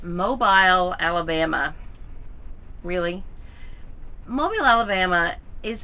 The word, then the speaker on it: Mobile: world that don't know that Mobile Alabama is pronounced mobile not mobile but how did it